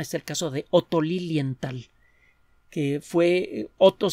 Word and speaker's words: Lilienthal: el caso de otto lilienthal que fue otro se escribe o teté o lilienthal suena que se escribe como suena solo que después del arte por esto es una hache y lenta él fue uno de